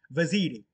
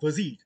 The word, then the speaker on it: Vaziri: vaziri you can say you can say for the sake of your pronunciation it can be vasirae it can be vasire it can be vasirae or wazid but not bhasi because thus at the end e is there so it's vaziri or vazar the name of